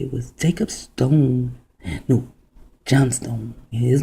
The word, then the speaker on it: Johnstone: Now, John Stone, John is a derivative of Jacob. And the S-T-O-N, although you do not see the E, it still is Johnstone, right? Now that E is silent and you do not see it.